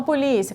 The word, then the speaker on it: polícia: já excluí segunda coisa posição da sílaba tônica Qual que é a tônica penúltima A então se é a penúltima sílaba é uma palavra paroxítona a gente estudou isso